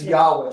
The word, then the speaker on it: Yahweh: And it's Yahweh. I should have I should have let you know that it's Yah. But in other languages it spell with a J.